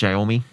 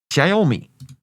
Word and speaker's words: Xiaomi: Is that how you pronounce Xiaomi? Xiaomi. like that character, like that fighter from Tekken, Xiaoyu.